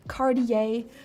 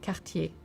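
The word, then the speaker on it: Cartier: of your tongue to create the car sound with a very short and precise t at the end. So not Cardier but Kartier often.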